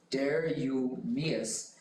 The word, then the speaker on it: Darius: lace six which included Darius milhad that is pronounced Dareus and Francis plun was